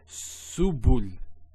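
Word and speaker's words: سبل: So to pronounce this has a S sound. So su, bu, and this is the lam, like the letter L. So subul, subul.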